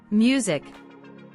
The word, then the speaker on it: music: i is pronounced differently music the vowel U also has a different sound the S is voiced problem vowels are not